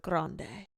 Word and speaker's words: Grande: And he's like, let's pronounce it Grande.